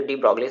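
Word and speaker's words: de Broglie: अच्छा, डी ब्रॉगली basically जब आप एनसीईआरटी में पढ़ोगे तो इसमें जो है इसको प्रोनाउंस किया गया है डी ब्रॉग, क्या क्या बोला गया, डी ब्रॉग बोला गया है ना, मतलब कुछ स्पेलिंग आप देख लोगे तो देखो।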